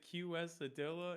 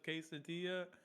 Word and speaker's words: quesadilla: i was like yeah whoever pronounces it q s a dilla instead of quesadilla what is wrong with